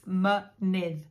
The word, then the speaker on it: mynydd: And in a word like mynydd, which means mountain, mynydd is mountain, it's pronounced both ways. So it's mynydd.